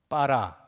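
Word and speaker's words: בָּרָא: 요 중간에 여러분 요 점이 하나 들어가 있잖아요. 점이 들어가면 발음이 강해집니다. 그래서 빠라 이렇게 돼요. 여러분 나중에 딱 이 점이 빠지면 뭐라고 읽어야 되냐면 바라 이렇게 읽어야 돼요. 점이 들어가면 빠라 이렇게 되는 거예요.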